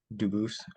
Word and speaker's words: Dubis: I am Anthony Edward Duboose. Um, Dubis is the English pronunciation. Duboose is the original French.